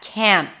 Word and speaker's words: can't: Remember that can't always has the full vowel, the as in cat, can't, even though the T is barely noticeable. Because the word can, the positive form, is usually reduced to can do it, can. And can't is never reduced.